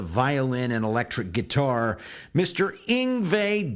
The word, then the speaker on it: Yngwie: And before I ever heard it spoken, I thought it was pronounced Ingui. Anyway, uh, Ingve came on the scene